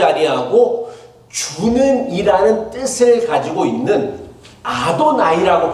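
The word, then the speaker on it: אֲדֹנָי: 근데 그 이름이 나올 때마다 하나님의 이름을 망령되이 부르지 말라라는 계명을 기억하여서 하나님의 이름을 부르지 아니하고 주는이라는 뜻을 가지고 있는 아도나이라고 발음했어요.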